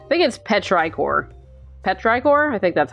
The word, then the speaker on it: petrichor: much to it but rykor petrichor I've never known how that's pronounced what did you call me petrichor that's what the smell